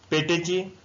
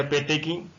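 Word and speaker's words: petechiae: To check the पेटेची या पेटेकी, कुछ भी प्रोनाउंसिएशन कर सकते हैं, पेटेकी या पेटेची।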